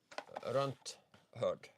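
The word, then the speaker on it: runtherd: Is that pronounced runt herd or run third? Runt herd. Runt herd.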